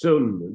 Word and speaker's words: sunya: Yeah, just sun. They don't say the ya. Sun. Yeah. But they write sunya.